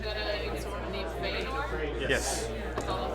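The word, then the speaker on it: Fëanor: There's a similar name in Tolkien's work, and it's an elven guy, but it's pronounced Feanor.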